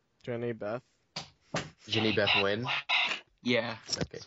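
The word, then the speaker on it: Jehnny Beth: And the uh in Savages is uh Jenny Bat. Is that how I pronounce it? Jenny Beth.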